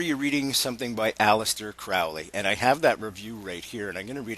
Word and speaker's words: Crowley: he pronounced his name Crowley he said it rhymed with holy okay so um yes